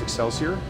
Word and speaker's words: Excelsior: Excelsior American Pale Ale, spelled XLCR, but it's pronounced Excelsior. If you just say that real fast, it's Excelsior.